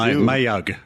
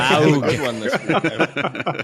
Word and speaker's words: mug: Mayug. I do. I say mayug. What do you say? Maug. Up in Canada, we call it a maug.